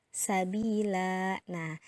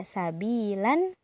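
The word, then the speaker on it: سبيلا: Yang biasanya dibaca sabilan, tapi karena dia berhenti di sana, maka bacanya sabila.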